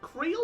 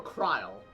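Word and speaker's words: Krile: Is it Creel or Kryl? Because I've heard it pronounced both ways now.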